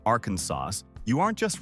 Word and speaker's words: Arkansas: It must be Arkansas with a silent s.